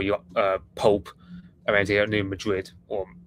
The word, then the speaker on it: New Madrid: Apparently, Americans pronounce Madrid. I'm just comparing it to Madrid because I don't live in that part of America, obviously, and I just know it as the Spanish capital city kind of name.